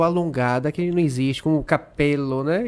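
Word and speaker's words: cappello: que não existe, como capello, né? E a gente tem uma diferença entre cabelo e o chapéu. Sim, capello, né? Que você alonga.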